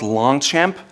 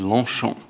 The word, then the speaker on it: Longchamp: It's not Longchamp, it is Longchamp.